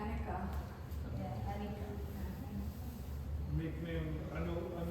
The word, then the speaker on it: Annika: तो कैसे प्रोनाउंस करते हैं? Anika. अनिका. हाँ. अच्छा, मेरे डॉटर का नाम है एनिका. Yeah, Anika.